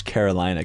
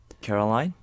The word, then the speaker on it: Carolina: Her name is Carolina. Can you just say her name? Caroline?